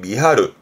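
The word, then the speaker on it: 見張る: 그래서 발음이 미하르. 뒷글자는 아까 확장의 장이기도 하니까 눈을 크게 확장하는, 즉 눈을 크게 뜨는 걸 미하루 합니다.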